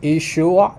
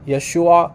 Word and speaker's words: Yeshua: the only difference is is it pronounced ishua or Yeshua like that there's a minor difference in how they pronounce between the western eastern dialects however returning to our